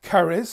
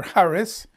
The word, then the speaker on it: charis: five four eight five charis or harris uh it's spelled like cherish c-h-a-r-i-s in the greek the favor that causes